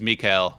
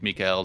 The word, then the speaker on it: Mikael: Well, with Korean letters and pronunciation, it is Mikael. Okay. Like Michael is like, American or something pronunciation. Okay. So then it's the question of how, like, you can say it how you want, but he says it Mikael, so that's how I say it as well.